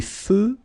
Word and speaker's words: feux: Des feux de circulation. So here, final X not pronounced.